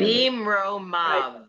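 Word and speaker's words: במרומיו: It's the V sound at the end. Oh, what sound at the end? V. Yeah, Bimromav.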